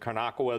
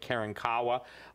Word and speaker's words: Karankawa: And what's important that people understand is this, is that even in Texas, some people pronounce it Karnakawa, the other people pronounce it Karankawa, but the appetite of demons was always expressed through these cultures, you know?